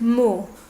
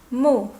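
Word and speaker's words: 木: looks like this and is pronounced mu mu from Mulan llamó means big trees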